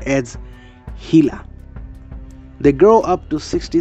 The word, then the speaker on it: Gila: Its name is pronounced as Gila.